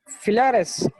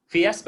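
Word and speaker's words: Fiasp: फिलॅरस नाही, इन्शुलिनचं नाव तुम्ही चुकीचं सांगताय. फिलॅरस. हॅलो, फिलॅरस 5 आहे सर, जेवणाआधीचं.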